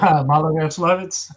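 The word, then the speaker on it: Maloyaroslavets: to the Battle of, and I'll let you pronounce it since I have trouble with this particular. Malaya-Yaroslavets. Thank you, sir. What Malaya-Yaroslavets did is it prevented Napoleon from reaching the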